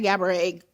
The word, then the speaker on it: Gabourey: You have to say Gabriet.